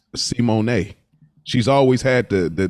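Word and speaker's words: Symoné: Actually, just found out Raven Simone. That ain't even how you say her name. It's Simone.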